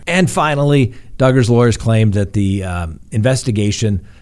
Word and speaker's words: Duggar: electronic devices other than duggars who rhymes with hugger the court finds that